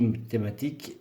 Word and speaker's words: mathématiques: Ici, mathématiques. UES ne se prononce pas.